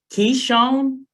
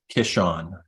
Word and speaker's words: Kishon: to be pronounced um kishan Keshawn can I still say Keyshawn I mean imagine that you're sneezing it's like kishan that's it oh I